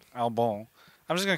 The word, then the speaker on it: Albon: him uh first off Americans I think would just call him Albin but it's Al albon is it ALB Al is a French pronunciation albone I'm just GNA call